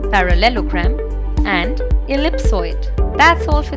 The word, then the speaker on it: parallelogram: and of equal length it is often incorrectly pronounced as parallelogram since this is a long word let's learn the pronunciation of it by breaking it into three parts para Lelo and gram parallelogram so the correct pronunciation of the world is